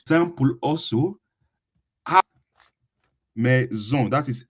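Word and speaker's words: maison: you Me that is just I pronounce it again. I spell it again. M A I S O N. Me.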